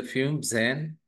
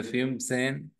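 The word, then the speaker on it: fünfzehn: okay इसके बाद में 15 मींस क्या 10 प् 5 सो फाइव केले फ्यूम और 10 केले सेन सो इट इज अ फ्यूम जन इट इज अ 15 इज अ फ्यूम सेन इसके बाद में 16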